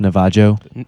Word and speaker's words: Navajo: a Navajo wood flute it's actually pronounced Navajo a Navajo wood flute